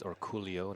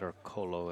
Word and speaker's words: Orcullo: For those new to Dennis Orcollo, which seems strange, his name actually is Orcollo, not Orcollo as it's spelled up there, but his passport